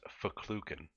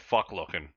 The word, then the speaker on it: Fochlucan: So this It's also sale, pronounced Fochlucan. it's so weird. I had to click a pronunciation of it. I know, right? I can't get that at all. The one Google Translate thing literally said "fuck looking," and I was like, I know.